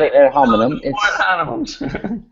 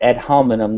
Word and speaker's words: ad hominem: Again, you're mispronouncing it. It's not ad hominem. It's ad hominem, not ad hominem.